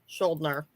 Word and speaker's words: Schuldiner: Chuck Schuldiner. Schuldiner. Okay. Yes. I knew I wasn't going to do it right. I had to make sure. Because I didn't want to disrespect Chuck Schuldiner of death.